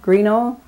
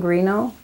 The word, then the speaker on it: Grignion: can you give us your full name and spell it for us please uh my full name is greenough and that's lasting green just a little slower please i'm sorry last name grino g-r-i-g-n-o-n and your middle name again just